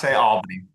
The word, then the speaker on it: Albany: It's Albany.